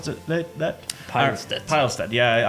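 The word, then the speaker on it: Pilestedt: I pronounce that pile pilest yeah I'm like a pile so anyways I'm the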